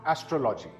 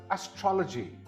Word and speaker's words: astrology: This word is not astrology. It is pronounced as astrology. Again, this word is astrology.